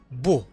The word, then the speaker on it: beau: ملحوظة كذلك كما رأينا في الدروس السابقة، هذا الثلاثي من الأفعال من الحروف EAU ينطق O devient beau.